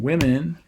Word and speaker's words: women: I don't want that, but in women, that O is pronounced like an I sound.